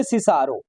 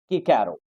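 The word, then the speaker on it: Cicero: He said to मी सिसारो टू, कहते उसने भी मुझे सिसारो ही कहा था, नॉट किकैरो, ना कि किकैरो, उसने भी यही कहा था कि तुम सिसारो पढ़ाओ, ना कि किकैरो पढ़ाओ।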